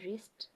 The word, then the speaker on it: wrist: watch on my wrist don't say on my w it's on my wrist wreck just a wreck